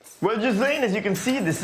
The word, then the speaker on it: Ghislaine: all about Ghislaine Maxwell, who I realized while filming this was actually pronounced Ghislaine and not Ghislaine, the way I was calling it.